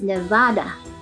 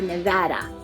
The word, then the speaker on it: Nevada: Technically, the Spanish way to pronounce the name is Nevada, but Nevada prefer Nevada.